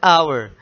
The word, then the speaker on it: hour: And afterwards an hour. H is silent here, so this is owl sound.